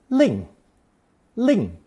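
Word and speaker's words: 令: without the mouth radical this new character is pronounced fourth tone Ling Ling with the mouth added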